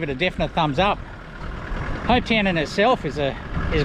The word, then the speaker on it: Hopetoun: center welcome to ho hope town know how it's spelt guys if you're looking it up t-o-u-n still pronounces the same doesn't it town um it'd be up